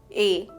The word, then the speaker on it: এ: we have here is a it is pronounced as a in the English word EG there is no Matra